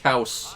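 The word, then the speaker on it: Kaos: That's pronounced Kaus.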